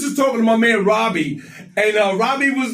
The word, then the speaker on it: Robie: Is it Robbie or is it Robi? Oh yeah, it's Robbie.